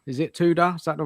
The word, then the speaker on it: Tudor: Tuda. Is it Tuda? Is that the right pronounce? Tuda. Yeah. Yeah. Tuda.